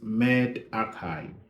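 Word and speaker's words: medRxiv: now the next one next preprint server is mad acai made A5 m-e-d-r-x-i-v and as you can imagine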